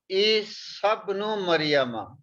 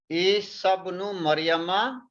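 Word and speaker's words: عِيسَى ابْنُ مَرْيَمَ: We will pronounce Isa ibnu Maryama. This sa we will pronounce with the ba. Isa ibnu Maryama.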